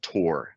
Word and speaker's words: Tor: google it uses a special web browser called tor and that's spelled t-o-r so tor routes web pages and